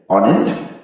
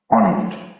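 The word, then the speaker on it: honest: হি is dash অনেস্ট ম্যান, অনেস্ট এইচ এর উচ্চারণ কিন্তু হ না হয়ে অ হয়েছে, এইচ এর উচ্চারণ হচ্ছে অ, এই জন্য আমরা এখানে ব্যবহার করবো অ্যাং, অ্যাং ব্যবহার করবো।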